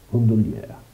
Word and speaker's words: Gondolier: Anzi, pronuncia proprio un po' più francese, parigina. Poi non so se c'è qualche parigino, ma lo può dire lui come si pronuncia gondolier, gondolier, un po' con la A finale.